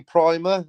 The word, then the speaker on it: Primer: Apparently it's pronounced Primer, but it hasn't got two M's. Well, I always called it Primer. So. Right, so you know that. You're down with that. But it should have two M's.